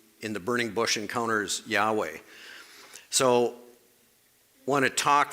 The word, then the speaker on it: Yahweh: was often then pronounced Jehovah. Most scholars now believe the correct way to pronounce the YHWH is Yahweh.